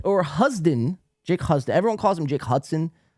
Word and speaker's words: Husden: So yeah, Jake Hudson or Husden, Jake Husden. Everyone calls him Jake Hudson, but it's spelled Husdon, Jake Husden.